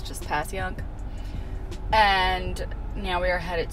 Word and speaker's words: Passyunk: Another one of those weird Philly words like Schuylkill or Conshohocken that we all know how to pronounce. It's just Passyunk.